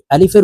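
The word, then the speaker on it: ألف: সঠিকভাবে পড়তে পারি না আলিফ টেনে পড়ি আলিফের উচ্চারণ টেনে পড়া যাবে না দ্রুতভাবে পড়তে হবে আলিফ আলিফ আপনারা আমার সঙ্গে বলার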